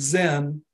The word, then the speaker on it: Zen: conceptual framework, White's Beatnik Zen, Chan was adopted from China by Japan, where it was known by the Japanese pronunciation of the Chan ideogram, Zen.